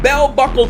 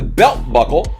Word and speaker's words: Bell Buckle: this number 99 from bell buckle tennessee still remember a couple weeks ago i pronounced i said it was belt buckle uh but yeah not